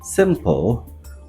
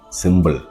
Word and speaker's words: simple: mispronounce I'm sure that the word simple will come up in the top three most of us call it symbol be humble and symbol